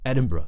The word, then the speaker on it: Edinburgh: as Edinburgh let's say the most native RP way of pronouncing it it's just edinb Bruh Bruh Edinburgh short schwar sound at the end uh Bruh Bruh Edinburgh